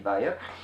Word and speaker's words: Weir: I think it's Andy Weir. Weir, yes. Yeah, like looks German, Weir.